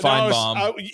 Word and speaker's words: Feinbaum: And by the way, that's how it's actually pronounced, but I think he's been Southernized. Feinbaum.